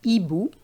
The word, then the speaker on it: hibou: So we have hotel, we don't pronounce the H, and we have hibou, we don't pronounce the H.